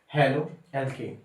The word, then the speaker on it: haloalkane: हेलो एल्केन, तो जैसे हेलो, कोई भी हेलोजन ग्रुप है उसको हमको हेलो की टोन में बोलना है। वहीं पर एल्केन को डायरेक्टली एल्केन फॉर्म में बोलना है।